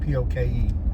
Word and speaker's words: poke: had a poke Bowl am I saying it right or is it poke is it a poke bowl or is it like uh the Elvis cover Poke Salad Annie no it's poke p o ke poke Bowl there's Mac Daddy's